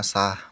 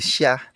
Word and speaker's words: sah: insyaf akhirnya menjadi salah contoh lainnya sah menjadi Syah kemudian surga Menjadi Surga